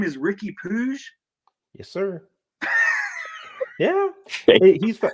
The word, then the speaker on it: Puig: coming over, but then he's from Catalonia, the Catalonia region of Spain. So they pronounce things differently. So instead of Puig, it's Puig. So like Ricky Puig.